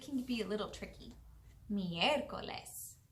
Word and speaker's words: miércoles: Miércoles. Miércoles. All right, it's your turn. Miércoles. Muy bien. Miércoles is spelled M-I-E-R-C-O-L-E-S. Miércoles. And if you notice, we put all of our sound on the E, right?